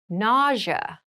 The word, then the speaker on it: nausea: an example itchy rash itchy rash it rash nausea nausea NAA NAA is a very interesting word